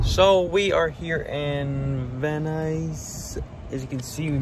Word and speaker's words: Van Nuys: Van Nuys. Like the shoes Van and the Nuys. Van Nuys.